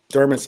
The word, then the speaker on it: Dermot: Dermot's Yeah. a Gaelic name, Mm-hmm.